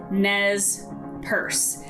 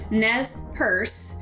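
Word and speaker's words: Nez Perce: the next one is nez purse now it's not a handbag which some of you might think but nez purse is um it's french and it means pierced nose and it's the name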